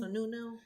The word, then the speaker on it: Sununu: Sununu.